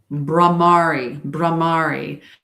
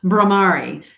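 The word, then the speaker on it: Bhramari: Brahmari. Okay. Brahmari. It's bumblebee breathing. So when you humming puts vibration, especially if you're doing the Brahmari, if you're doing that, it's really going to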